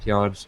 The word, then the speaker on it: PYOR: It's pronounced as PYOR.